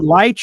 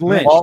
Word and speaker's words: Lynch: Was it Lich or was it Lynch? I was going with Lynch.